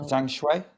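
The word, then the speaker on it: Zhang: Jangu.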